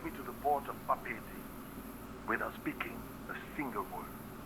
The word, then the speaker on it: Papeete: And also now we know how to pronounce this place. Papeete.